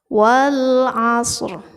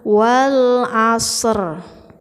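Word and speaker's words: والعصر: vokal dari huruf ro jadi seperti ini membacanya Wal Ashr jadi HD harus ada huruf r tapi jangan terlalu kencang jangan terlalu keras membacanya atau jangan terlalu lantang jangan wall Acer yaitu terlalu jelas Tapi harus agak suaranya itu setengah dari suara as well as well as ur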